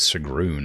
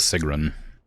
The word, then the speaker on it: Sigrun: His name is Sigrun. I thought it was Sigun. Pronounced it wrong this whole time.